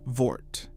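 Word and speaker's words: Würth: The company name is Wurth, pronounced Voort. It has been operating in America for over 50 years. And it has decided that you, the individual American tradesman, are not allowed to be a customer. Wurth was founded in 1945 in a small German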